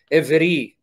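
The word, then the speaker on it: עברי: It's pronounced Evri.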